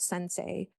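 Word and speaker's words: Sens.ai: But there's a product called Sensei and it's spelled sens. AI is the website. Sensei like sensei like the Japanese teacher, right?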